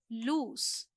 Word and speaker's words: loose: नाउ we have लूज एंड this is not lose, this one is pronounced as loose.